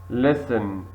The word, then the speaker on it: listen: silent where thumb thumb very good B thumb listen listen very clear it's t thank you very